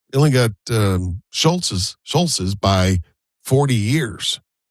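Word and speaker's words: Scholz: only got um it only got um Schultz's Schulz's by 40 years. It's funny. It's It's actually, you know, it's it cuz I the pronunciation. We all say Schultz's.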